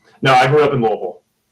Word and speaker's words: Louisville: Wait, is it a thing that you guys that grew up in Louisville have to say it wrong, or are we all saying it wrong? I grew up in Louisville, Kentucky. It's Louisville. It's Louisville, though. It's Louisville. Anybody in Kentucky knows it's Louisville. I know. I've listened to Dennis Trusley, who is the epitome of Louisville grammar, and I know that's how it's said there.